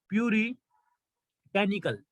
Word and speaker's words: puritanical: ये जो वर्ड है, इसको बोलते क्या है, इसको प्रोनाउंस कैसे करते हैं? इसको बोलते हैं प्यूरी, प्यूरिटेनिकल, प्यूरिटेनिकल, PURITANICAL, प्यूरिटेनिकल।